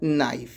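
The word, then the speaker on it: knife: तीसरा देखिए के बाद एन है, उसके बाद वॉवेल है तो के क्या हो जाएगा, साइलेंट हो जाएगा। तो ये आपका हो जाएगा नाइफ।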